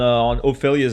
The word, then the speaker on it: Ophélia: Ophelia, usually, okay, there should be an E, like an E with an accent on Ophelia's name, if it was like French. And we would pronounce it Ophelia.